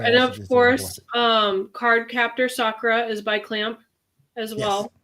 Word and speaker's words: Sakura: Um you because you call it Sakura. I call it Sakura. Maybe I'm Maybe I'm reading it wrong. I think it's just the pronunciation. The the proper pronunciation in Japanese is Sakura.